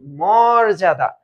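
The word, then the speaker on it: মর্যাদা: উচ্চারণ মরজাদা হবে মরজাদা এটার উচ্চারণ কি এটার উচ্চারণ হবে মোরজাদা মোর দাদা হ্যা মোরজাদা এটা একটু মনে রেখো ওযে পরজন্তের মত পর্যজন্তের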